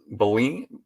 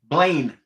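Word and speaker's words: Blaine: am I what's that Bine I'm not saying that name right that Joe's bla huh Blain oh that's okay the E is silent on the end it's just to confuse you okay I'm like I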